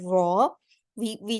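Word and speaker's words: ر: We just fold the tip of our tongue towards the back of our front two teeth. Raw. That way we pronounce the raw heavier. And most of the times in the Holy Quran, the raw is going to be pronounced heavier.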